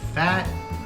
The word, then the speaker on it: Phat: you know uh anyway we received some fat olive oil it's uh it's spelled p-h-a-t it's a Artesian oils